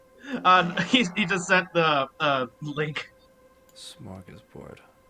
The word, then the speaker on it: smörgåsbord: Smorgasbord. Smörgåsbord. Smorgasbord. Interesting. That is a very interesting way of pronouncing that.